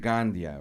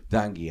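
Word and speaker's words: Donghia: Gandia, right? No, you totally butchered the name. Dangia.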